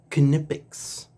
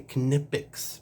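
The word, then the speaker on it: Knipex: equipment there we'll save those two for last canipix five inch pliers wrench I say canipix because that's how the company themselves pronounce it they even sell shirts I even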